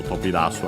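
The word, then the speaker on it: 飛び出す: Luckily also accented, dasu accented, and also tobidasu accented.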